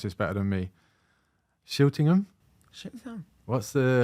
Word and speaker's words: Schiltigheim: At you're going to pronounce this better than me. Shiltingham? What's the? Schiltigheim.